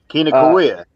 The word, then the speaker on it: Kinokuniya: I'm a terrible pronouncer. Kina Books. Oh yeah, Kinokuniya.